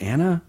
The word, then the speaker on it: Anna: thank you so much I think it's pronounced Anna is it yeah Anna Faris is unqualified